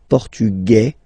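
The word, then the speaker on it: portugais: The Feminine form okay masculine portug you don't pronounce the S feminine form portuges you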